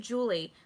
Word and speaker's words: July: Is it July or is it Julie? I had a class with a girl in college, and her name was spelled July, but it was pronounced Julie.